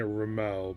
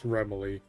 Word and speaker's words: Remily: I've been pronouncing it Ramel, but I guess now that someone in character in the universe has pronounced the name, I guess it's Remily.